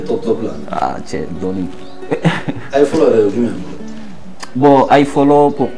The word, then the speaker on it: Ifolo: I follow lui-même. Bon, I follow pour commencer, mon vrai nom c'est. Les I follow, ça s'écrit I follow.